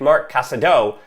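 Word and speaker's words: Marc Casadó: that i've been saying well i said mark casado but it's mark casado i was ignoring that accent on the o and i've learned after three years how to say it properly so starting with mark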